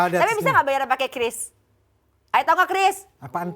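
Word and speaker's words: QRIS: Tapi bisa nggak bayar pakai kris? Ayo tau nggak kris? Apaan tuh? Kiris. Bacanya bukan kiris loh sekarang. Kris bacanya tuh gitu.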